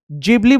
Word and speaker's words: Ghibli: आउ एक ना रही घिबली को जिबली बोली भी प्रोनाउंस करा जाए घिबली बा जिबली ठीक अच्छे।